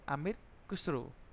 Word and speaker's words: Amir Khusro: The pronunciation is Amir Khusro, to refer to the culture and the people of the Indus River.